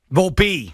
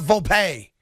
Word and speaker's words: Volpe: the kids last name which again is volpi Volpe yes and that's how I say it's how you say it it is not full pay full P maybe he's setting up